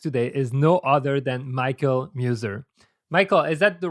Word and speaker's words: Michael Muser: and my guest today is no other than michael muser michael is that the right pronunciation it is perfect okay michael muser is